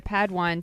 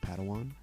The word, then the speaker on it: Padawan: family reunion Master Yoda assigned a pad one to this bold Jedi it's pronounced Padawan oh Padawan excuse me